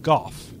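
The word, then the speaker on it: Gough: Billy goes on to say via contact, there is something that's been bothering me.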